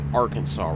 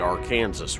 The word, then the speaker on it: Arkansas: And yes, it's pronounced Arkansas River. I say that because, just kind of give you an idea. I grew up in a little bitty town in south central Kansas named Arkansas City. Now, that does not mean I'm not saying Kansas City. No. It is spelled Arkansas City. Alright. That's not how they say it, though.